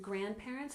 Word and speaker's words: grandparents: visited visited good and Grandparents has stress on the first syllable grandparents grandparents and replied has stress on